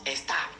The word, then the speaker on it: Esther: D'ailleurs en perse, Esther se prononce Estar.